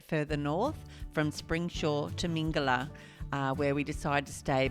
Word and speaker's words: Mingela: Okay, here we are at Mingela. Mingela. Oh, Mingela. There you go. I always say it wrong.